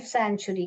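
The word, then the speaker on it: sanctuary: wild life सन सी यहां पर क्या साइलेंट है सी साइलेंट हैय सन लिखिए सी साइलेंट है फिर चरी टी यू ए आर वाई चरी सैचुरी ऐसा पढ़ने का सैचुरी सो द काजीरंगा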